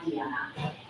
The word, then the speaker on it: Dijana: The J is pronounced as a yes, so this is why Dijana.